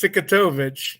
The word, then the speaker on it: Cikutovich: It's Cikutovich, just like it's spelled.